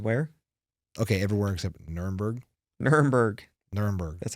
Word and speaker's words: Nuremberg: Nuremberg.